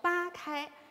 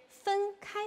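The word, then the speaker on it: 分开: 弦分开，很多朋友请不要读成八开，在这里它是分开的一个简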